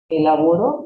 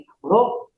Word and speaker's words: elaboró: presente como en pasado, se escriben igual, pero tiene el acento, la connotación en la última palabra, trabajo, trabajó, elaboro y elaboró.